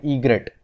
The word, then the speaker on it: egret: तो यह क्या क्या है, दिस इज़ अ बर्ड, तो इसे हम कहते हैं ईग्रेट. तो यह है ईग्रेट, इसकी स्पेलिंग होती है EGRET, ईग्रेट.